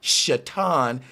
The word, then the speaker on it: Satan: And the word Satan is supposed to be pronounced Shatan.